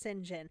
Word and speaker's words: St. John: John, but again is pronounced St. John.